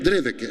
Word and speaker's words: Dreveck: Eu abri falando Drevec e pedi para o senhor em off, me explica, porque eu sempre escrevo e ainda não pronuncio. É Drevec? Drevec, Isso é alemão?